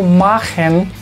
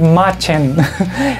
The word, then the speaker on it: machen: de más trabajo Por qué Porque este verbo magen y no vayan a decir machen Recuerden que la pronunciación es mn si quieren saber cómo se